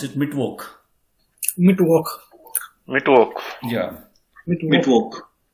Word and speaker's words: Mittwoch: I request everybody to please pronounce it Mittwoch.